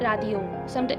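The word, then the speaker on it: 라디오: और अभी इसको बोलेंगे हम रादियो। कुछ कुछ लोग इसे लादियो भी बोलते हैं, लादियो, और इसको कुछ कुछ लोग रादियो।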